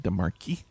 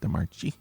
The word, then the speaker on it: DeMarchi: I think sometimes people pronounce it DeMarchi. Okay. I think she pronounces it DeMarchi.